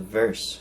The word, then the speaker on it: Virse: So, and there was another phone called the Verse phone. That's spelled VIRSE, but they were actually had their screen supplied by IQH3D.